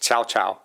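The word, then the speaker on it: Cao Cao: c a o CAO but actually pronounced chowchow um for services he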